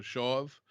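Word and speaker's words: שָׁוְא: the word it's uh when the pronunciation part it was s-h-a-w-v so shove um it's the hebrew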